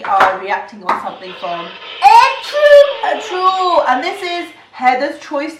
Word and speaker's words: Ertuğrul: The G is silent.